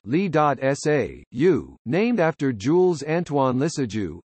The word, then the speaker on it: Lissajous: In orbital mechanics, a Lissajous orbit, pronounced Li.SA.U, named after Jules Antoine Lissajous, is a quasi-periodic